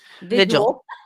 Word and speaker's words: vigil: Did I say Vigil? Vigil. It's like Vigil. I'll tell you, I've been hearing it mispronounced so much lately. I think I picked up on it.